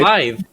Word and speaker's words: Blaidd: spelled with two D's, but it's pronounced like a TH.